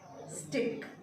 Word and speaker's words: stick: क्या आपको C का अलग और K का अलग सुनाई दे रहा है? ऐसा कुछ सुनाई, दोनों ही का, C का साउंड भी क आता है और K का साउंड भी क होता है, तो क्या आपको दोनों के साउंड अलग अलग ऐसा कुछ सुनाई दे रहा है?